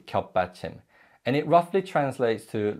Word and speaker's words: 받침: and in Korean the final consonant in a syllable is called patching patching literally means support and it's always positioned beneath